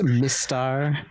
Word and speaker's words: Mistar: So it's Mistar, Hector. Mistar. So if it goes, when it goes fast enough, people think it's Mr. Hector.